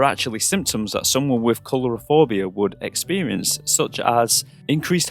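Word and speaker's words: coulrophobia: get it wrong, but I believe it's pronounced colorophobia, and that is a word used for the irrational fear of clowns.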